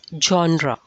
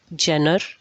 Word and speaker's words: genre: does it look but it's pronounced as genre not jenner genre joe a little bit joe sound genre which genre